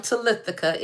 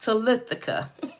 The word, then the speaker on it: Talitha: I know I have a rather difficult name to say, but it is pronounced the way that it is spelled, and it is Talitha.